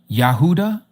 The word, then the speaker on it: Yahudah: It's spelled Y A H U D A H.